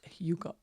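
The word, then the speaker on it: hygge: months to find out how do you pronounce Hugo? people had to teach me. And actually, my daughter has a best friend who comes from Sweden. So, she taught me how to pronounce Huga.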